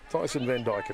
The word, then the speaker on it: Van Dyken: Tyson Van Dyken now.